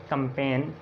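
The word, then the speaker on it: campaign: आप देखें एन से पहले जी साइलेंट है, इसको हम पढ़ते हैं sign, resign, design, line, कंपेन, चैंपेन और क्लोन और असाइन।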